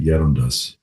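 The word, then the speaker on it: Gerontius: We actually know because her biographer, her priest, I think we pronounce it Yerundas, details her life.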